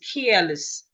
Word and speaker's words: careless: pronounced e less less but when is a part of another word the e becomes a sure so it becomes careless care let me transcribe the word the word is not care.